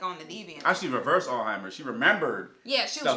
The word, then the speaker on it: Alzheimer's: Somebody corrected me for saying Alzheimer's, and they was like, no, it's Alzheimer's.